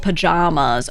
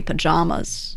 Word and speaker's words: pajamas: How do you pronounce the second syllable of pajamas? Oh, with the vowel in jam or the vowel in palm? It's the second one for me, pajamas.